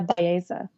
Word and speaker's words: Bowermaster: How do you pronounce that? I did. So my new name is Bowermaster.